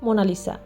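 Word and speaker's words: Monna Lisa: যেমন এই ছবিটির নাম এটি একটি উচ্চারণগত ভুল এর সঠিক নাম হল মনা লিসা যার অর্থ মাই লেডি 16 শতকের শুরুতে লিওনার্দোদা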